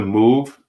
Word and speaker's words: MOVE: this is um The Move Organization right so it says move pronounced like the word move originally a Christian Movement